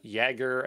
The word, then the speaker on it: Jaeger: fluentd harbor helm uh jaeger i think it's pronounced jagger like the j's the y uh kubernetes linker d